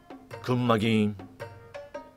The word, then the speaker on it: クンマギーン: I use it at such times If you change "Punishment" to Okinawan, it will become "Kunmagin" Let's go to the pronunciation "Kunmagin" Did you hear it?